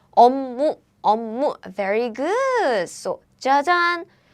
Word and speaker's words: 업무: So air blocking sounds become the nasal sound.